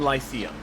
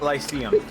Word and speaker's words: Lyceum: Google for the win. Lyceum. I mean, it's spelled exactly how it sounds, so I mean.